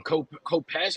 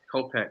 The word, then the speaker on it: Kopech: I think I've been calling him Kopesh. I think I've had the name wrong. Kopech.